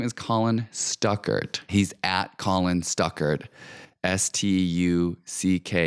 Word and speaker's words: Stuckart: host of that show his name is Colin Stuckart not Colin stuck worth I don't even know where